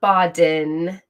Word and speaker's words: Bodden: on here but I yes I have been saying Dr boden's name wrong sorry I apologize I have been incorrect um uh so there I've got it out there so Dr bodden is expected to testify today not what I've been saying um my apologies I